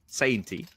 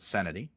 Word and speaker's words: Sainty: I say his name right. Senti. Sainty. It is not sanity.